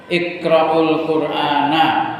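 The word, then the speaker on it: اقرءوا القرآن: sallallahu alaihi wasallam berkata, iqraul qurana kamu bacanya na bukan ni, bukan nu."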